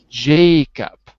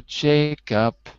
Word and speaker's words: Jacob: wait wait wait wait remember I put a one next to Jacob because we agreed that it's the first animal in our chart it's snake so it's Jacob okay so brother Jacob repeat brother Jacob brother